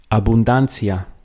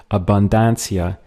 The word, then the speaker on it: abundancia: Abundancia. Here we have a little change in the pronunciation earlier on the word. Instead of abundancia, which really doesn't sound that Spanish, it's abundancia.